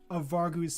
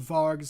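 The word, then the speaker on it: Vargu: called v-a-r-g-u but apparently it says the U is silent that's really going to bother me okay the leopard asked to hear one of varg's secret plan or to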